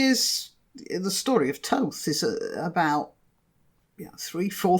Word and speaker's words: Thoth: to his followers okay Toph spelt th o th but modern academics say it's pronounced Toth so that's what I'm